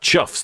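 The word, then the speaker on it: chough: Pronounced chuffs. The birds apparently on the lure flag. Well, there you go. I learn some every day. Spelled cough. Pronounced chuff.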